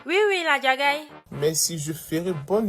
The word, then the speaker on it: Ladjagaï: Ah, c'est comme ça qu'on prononce son nom. Oui, la Jagaï.